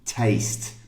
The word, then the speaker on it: taste: These do not have the same pronunciation. No, they don't. The first one is test. So it's got the eh sound, like in egg. Okay, test. And the other one is a, taste.